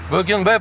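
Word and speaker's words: Богенбай: Букенбай правильно говорить надо.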